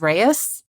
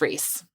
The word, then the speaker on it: Reis: to be clear I was absolutely going to pronounce it wrong it's r-e-i-s which I just thought was Reyes but it's Reese so oh because of course it is and